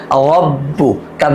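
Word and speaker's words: ربك: রব্বু, কাব জবর কা, রব্বুকা, রব্বুকা।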